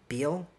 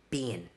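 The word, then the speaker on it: Biehn: Also, they cast Aliens and Terminator star Michael Biehl. Is it Biehl? How do you pronounce his last name? Bean. Michael Bean.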